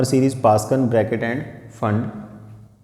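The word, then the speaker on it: Pfund: जो थर्ड पे आएगी इसका नाम है पास्कन, फोर्थ पे ब्रैकेट, और जो फिफ्थ पे आएगी इसका नाम है फंड, पी साइलेंट है।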